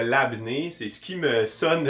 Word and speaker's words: labné: Je crois bien le prononcer, mais pour me défendre, je vais tenter le labnais, le labneux, le labneux, le labne. Je suis certain que c'est le labné, c'est ce qui me